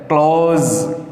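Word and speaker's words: close: जब हम क्लोज बोलेंगे, क्लोज द डोर, तो ये जो एस ई है ये जेड का साउंड देगा, जे, क्लोज।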